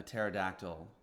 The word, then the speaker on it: pterodactyl: can't you hear a pterodactyl using the bathroom because the P is silent starts with a PPT